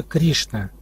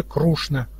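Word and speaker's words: कृष्ण: И вот некоторые произносят его как Кришна, Ри, вместо Ри. А на юге Индии характерно произношение вообще Крушна, через Ру.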